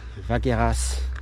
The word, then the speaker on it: Vacqueyras: I feel like in the north you're more likely to have a silent S at the end of a word or a town. But here in the south, they usually pronounce the AS. It's like with the wines, Gigondas, Vaqueras, and the city Aubenas, not too far away from here.